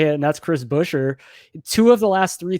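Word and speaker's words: Chris Buescher: figured out how to say it and that's chris busher two of the last three times he's ran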